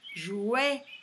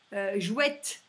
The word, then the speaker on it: jouet: C'est un jouet, jouet, et ça se dit pas jouette.